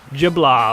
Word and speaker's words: de Blob: know how to spell that is how you spell it juh blah blah that's how it's pronounced it's a it's